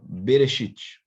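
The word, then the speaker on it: בראשית: pegar exemplo aqui como lá trouxe aqui ó bereshit bereshit bereche perceba que eu tenho aqui A Bê é uma sílaba Tá quem eu tenho aqui ó esse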